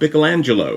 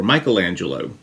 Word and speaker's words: Michelangelo: heard the name of Michelangelo or Michelangelo both pronunciations are proper uh he was much